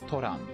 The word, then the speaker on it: Thoron: out of it oh thoron okay yes yes now i know it is toronto or i guess that's just a different difference in pronunciation here it's toran against hellfire with nine yeah